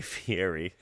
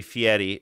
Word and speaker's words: Fieri: I used I grew GRE up saying guy Fier because I grew up with him of course um but I know that that is not the proper way to say it you're supposed to say Fetti right but then I'm uncomfortable putting that much